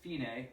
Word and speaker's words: fine: the end of the second line it says finae which i mean it's pronounced fine in english it says fine but